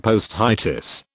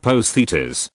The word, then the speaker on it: posthitis: of three or more the term post itis pronounced Positas comes from the Greek